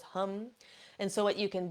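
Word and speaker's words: ham: Now, the seed sound for the throat chakra is spelled H-A-M, but it's pronounced hum because of the difference of vowels between our language and Sanskrit. So it goes hum.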